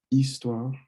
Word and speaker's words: histoire: une histoire; un conte, une histoire, don't pronounce the H, a story; une fable,